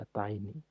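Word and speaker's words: ATtiny: Lebih baik pakai DigiSpark at, at, Atini, Atini, bacanya Atini. Itu DigiSpark yang kakinya hanya 6.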